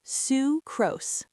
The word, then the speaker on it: sucrose: This one is pronounced sucrose, again with a long oo sound, like in Sue.